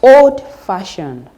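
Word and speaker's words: old-fashioned: for instance we have oldfashioned the stress is on Far old fashioned the stress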